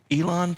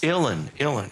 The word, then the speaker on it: Uilleann: Now, Willie Clancy, or Wiley Clancy himself, was an Irish Elon player. Is that right? Is that how you He say was a it? piper. How do you say Uilleann pipes. Uilleann, okay.